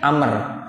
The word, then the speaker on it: Amr: bin Amr Bin Ash bedanya Amr dengan Umar kalau ada waunya bacanya Amr kalau kagak ada waunya Bacanya apa Umar ini ada Umar ada